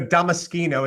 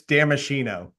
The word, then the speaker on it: Damaschino: Well, I do like the Damaschino. It sounds more official, but in the US, it's Damaschino.